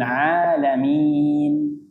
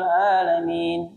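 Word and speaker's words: العالمين: gitu contoh Alhamdulillahi rabbil alamin a alamin menggunakan Ain ketika bacanya malas-malasan tidak dijelas tidak berusaha untuk menjelaskan ini huruf Ain maka dia bacanya Alhamdulillahi rabbil alamin yang tadinya Ain jadi a ketika kita lihat artinya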